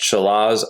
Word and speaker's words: Challis: 6.5 earthquake here and I think it's pronounced Chile's Idaho if I'm not mistaken